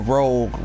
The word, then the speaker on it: Rouge: else, I think we're going to Rouge first. I think this is, well, of course, or Rogue, however you want to pronounce it.